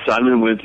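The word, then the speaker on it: Simon Wincer: I hope I'm, It was directed by Simon Winsor. Is that how you say his name? Simon Winsor.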